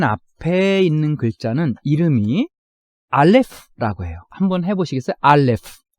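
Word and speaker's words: אלף: 이것의 발음이 조금 특별해요. 그리고 우리 한글에 없는 발음이고 음성학적 용어로는 성문 파열음이라고 부르죠. 하지만 이제 사용하는 실제에 있어서는 소리값이 없기 때문에 우리말로는 그냥 이응으로 표현하는 때가 굉장히 많습니다.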